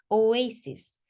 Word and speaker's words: oasis: 오아시스라고 읽고 싶어요. 그렇지만 oasis.